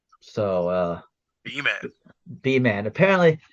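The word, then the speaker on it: Beaman: A and the man sometimes it's just said bman it's b e a m an so uh bman bman apparently it's their mascot some a guy they knew they called the bman uh not the bman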